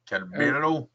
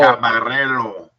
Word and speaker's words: Caballero: Calabero. Where? Randy Caballero. Caballero.